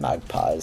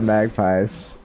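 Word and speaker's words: magpies: the real D the mag pies I like how you're saying it wrong like I do no no you said magp and that is oh right that's the wrong way right right I'm the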